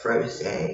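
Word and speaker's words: Frosé: But it has an accent on the E, so instead of froze, it would be what, froze?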